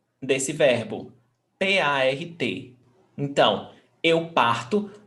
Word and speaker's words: parto: Eu parto. Você parte. So now you see that the stressed syllable is before last.